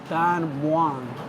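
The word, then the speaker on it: Don Mueang: So we're in the food court area at Don Muang, and I found out some big news about Don Muang.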